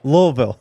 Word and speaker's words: Louisville: Louisville. Okay. You got to hit the VUL at the end. Louisville.